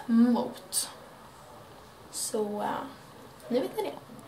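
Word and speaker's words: Muth: Och Mot är då tyskt. Det stavas M-U-T-H och uttalas Mot.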